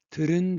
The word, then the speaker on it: 들은: 모음, 의, 듣은, 듣은, how to pronounce it? So, 디귿, change to real, 들은, 듣은, voiced, 디귿, non-voiced, voiced, voiced, non-voiced, voiced. So it is very hard to pronounce it. So 디귿 change to voiced. What is the voiced of 디귿? It is real.